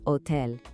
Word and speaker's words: hotel: In Spanish, it's spelled the exact same way, but remember, the H is completely silent. El hotel.